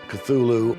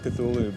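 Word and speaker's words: Cthulhu: wrongly uh and so finally in a letter of 1934 he tells a colleague well it's really meant to be two syllables uh you're supposed to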